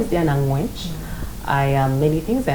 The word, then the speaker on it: Angwech: name is diana ange my father is very tough on the pronunciation he once had me pronounce it in front of a camera and the cameraman had him whispering behind how my pronunciation needs a little bit more accent in it as i pronounce it so my name is